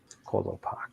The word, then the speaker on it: Kolopak: Who is Kolpak? Close enough, I think. Very good. How would you pronounce that? Kolopak. Kolopak. Kolopak. Good. Okay. Thinking like Coolio.